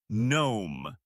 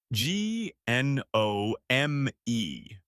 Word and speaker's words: gnome: And at the beginning of a word, G N also means the G is silent. The word is gnome. G N O M E.